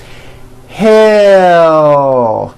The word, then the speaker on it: hell: close attention to this to produce an l sound at the end of a word keep in mind that the sound of the l comes from the movement of the tongue rising it does not come from the placement of the tongue but from the actual movement watch me as i say this word hell the l comes from the movement of my tongue you may want to